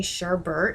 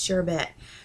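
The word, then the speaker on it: sherbet: like when people say Sherbert instead of sh bit like there's only one R in that word it's not Sherbert like check the spelling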